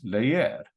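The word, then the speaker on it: leer: a typical verb um an infinitive layer means to read right it's two syllables ends in a consonant so it's layer the stress is here say we conjugate this in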